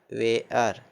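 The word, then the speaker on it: wear: Bare, bare मतलब भालू, डब्ल्यू ई ए आर वेयर, वेयर मतलब पहन लेना या पहनना, ठीक, वेयर, डब्ल्यू ई आर वेयर मतलब पहनना या पहन लेना, ठीक।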